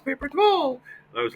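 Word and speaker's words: tole: another image it's called paper toll and paper toall it's pronounced and it's paper t o l e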